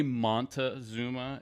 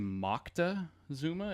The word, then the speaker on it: Moctezuma: thing happened to get it started we say Montezuma and it's actually Moctezuma is the way they they would pronounce it I saw it spelled two different